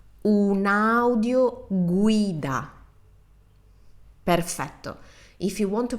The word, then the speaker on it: un'audioguida: So slow down and pronounce each vowel like they were self-standing, separated. Take your time and you will have the perfect Italian pronunciation. So let's repeat this word together. Un'audioguida.